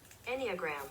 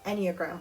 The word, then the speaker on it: enneagram: gonna i don't wanna like say it wrong pronunciation anya girl enneagram enneagram okay so my enneagram is eight and i